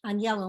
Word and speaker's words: Agnello: name is um my name is pronounced on yellow my maiden name and uh and yet my father changed it to agnello because people didn't understand that that g in italian is soft like anus so i when i